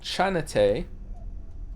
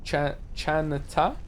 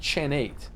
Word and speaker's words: Chin8: It's pronounced Chanate. Chanata, not Chan8.